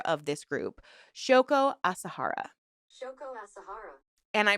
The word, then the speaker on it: Shoko Asahara: Shoko Asahara. And I pronounced it right.